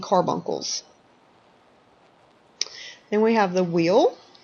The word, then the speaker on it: wheal: Then we have the wheal. Some of us in the South tend to pronounce it a whelp.